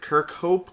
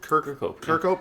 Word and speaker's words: Kirkhope: I can never pronounce his name, but it's Grant Kirkhope. Kirkhope.